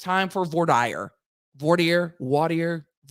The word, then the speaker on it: voir dire: we got us some voir dire. It's time for voir dire. Voir dire. Depends on where you are, on how that is pronounced, but voir dire.